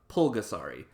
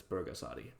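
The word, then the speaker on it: 불가사리: to pronounce Burgas Adi is with a B not a P it's both gasp Adi not pulgasari the reason people mispronounce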